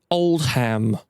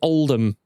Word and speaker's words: Oldham: same for place names, do not pronounce it as a hard H. This is not Oldham. If you say that, you will be laughed out. This is Oldham.